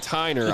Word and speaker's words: Tyner: You know, the starting quarterback for the Bears football team was Gavin Tyner. I was definitely saying Tinner at the beginning of the year for the first two